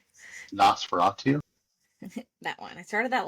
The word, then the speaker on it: Nosferatu: speaking of, I started, how do you say, Nosturov, Nosferatu, that one.